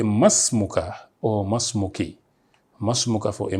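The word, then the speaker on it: ما اسمك: They say ma ismuka, what is your name? Ma ismuka. This is not the way to pronounce it because it has alifun wasli. The alif that connects is what we call alifun wasli. So you say masmuka or masmuki.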